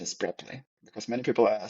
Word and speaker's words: Preply: something yeah I forgot already but the proper pronunciation is preply because many people are saying it's preply that's what I saying preply exactly but properly is prly and and uh this is a platform that